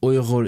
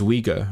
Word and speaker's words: Uyghur: Because the English one is Uyghur, right? Uyghur, and it feels very wrong.